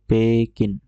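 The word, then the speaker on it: ペキン: নিউ ইয়ক New York New York তার Beijing কে বলে পেকিন পেকেন পেকেন loss এঞজেলস কে বলে যেহেতু তাদের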